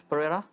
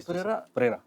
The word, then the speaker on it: Pereira: So, this is Chris Pereira. Am I pronouncing it correctly? Yes, you pronounce it better than I do. Is it? So, Yeah, Chris Pereira. Pereira.